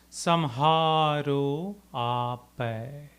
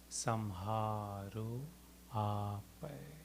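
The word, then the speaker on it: सम्हारो आपै: We'll look into the pronunciation first in 4 parts. Please respond after me. Apan tej. Apan tej. Samharo apai. Samharo apai.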